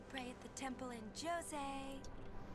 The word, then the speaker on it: Djose: And before that we get to pray at the temple in Jose. It's pronounced Jan.